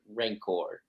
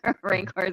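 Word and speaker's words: Rayencourt: you think of Senator ranor I can say it right r r i feel like it sounds like Rancor like ra which maybe is on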